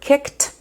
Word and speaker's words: kicked: Another example would be the word kicked. The ED is pronounced t even though in some other words it's pronounced ed or d.